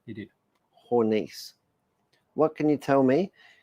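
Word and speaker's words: Hornisse: Hornice.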